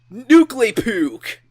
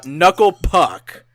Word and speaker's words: Knuckle Puck: But speaking of Jared Alonge and bands, Nuclepook. Oh, wait, sorry. Knuckle Puck. I still have that pronunciation on the brain.